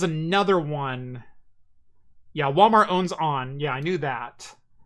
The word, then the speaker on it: onn: Yeah, Walmart owns On. Yeah, I knew that. It's pronounced On.